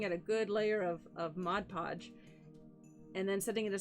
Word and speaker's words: Mod Podge: and Mod Podge yes I'm saying it correctly now yes Mod Podge it's not much pot okay he used to